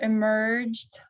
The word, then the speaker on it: emerged: A monster emerged from the water. A monster emerged from the water. Вы, надеюсь, увидели ER под ударением, да, в середине слова.